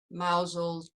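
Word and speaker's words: Mousehole: lands end to lylant see i'm already impressed that you've you've pronounced mouse hole correctly i thought about it i i was there for four years before i could say it correctly tripping up constantly on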